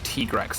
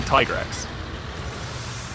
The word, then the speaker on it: Tigrex: It is the canonical pronunciation is Tigrex for some reason, Which, even though it's it's obviously Tigrex.